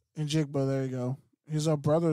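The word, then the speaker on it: Njigba: And Jigba, there you go.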